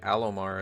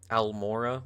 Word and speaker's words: Alomar: on my main channel because I mispronounced Sheva's name because I misread it in my script. Like her last name's like Alomar or something like that, right? Like apparently I had said Almora without even realizing.